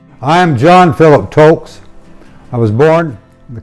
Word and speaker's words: Toelkes: So T, umlaut O, L-K-E-S. Toelkes, I think is how it would be pronounced.